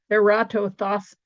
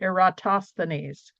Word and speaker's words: Eratosthenes: Eratosthenes, no, I have to say it right, Eratosthenes.